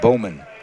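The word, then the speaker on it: Baumann: For the Boilermakers, Brody Bowman. Spelled B-A-U-M-A-N-N, pronounced Bowman. Guillermo letting the pressure up just a little bit, allowing Bowman to be able to come up to his feet.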